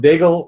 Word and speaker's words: Diggle: edition with our buddy Adam Diggle rhymes with bagel I keep saying that